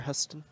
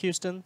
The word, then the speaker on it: Huston: Oh, it is pronounced Houston? Yeah, like Ash the Houston. city? Yeah, Houston, Texas. Okay.